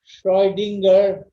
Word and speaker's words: Schrödinger: তাহলে Schrödinger equation SCH আর উপরে দুটো ফোঁটা, এটা জার্মান, Schrödinger, শ্রু না, শ্রয়, অয়, অয়, ও না, Schrödinger, শ্রয়, অয়, Schrödinger ইকুয়েশন। এভাবে উচ্চারণ করে Schrödinger ইকুয়েশন।